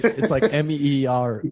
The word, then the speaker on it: mirror: Mirror. Yeah, mirror. Mirror. Yeah, mirror. Yeah, it's like MEER.